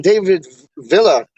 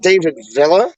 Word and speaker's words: David Villa: It's not David Villa. It's David Villa. Like, yo, homeboy, I think he used to play for Barcelona. Then went to like New York. And it's like, yo, it's David Villa, not like David Villa.